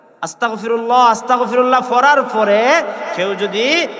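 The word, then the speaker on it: أستغفر الله: আমরা তো পড়ি না, আস্তাগফিরুল্লাহ, আস্তাগফিরুল্লাহ, মানে এমন ভাবে গাইনটাও উচ্চারণ করতে পারে না মুসলমান। আস্তাগফিরুল্লাহ, আস্তাগফিরুল্লাহ পড়ার পরে কেউ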